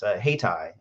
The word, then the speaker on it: Hayti: The name of my company, as Dr. Hightower mentioned, is Haytai. It's spelled Hayti.